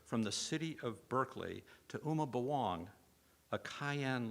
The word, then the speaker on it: Berkeley: live in a city named in honor of bishop barkley which we now pronounce berkeley who is immortalized in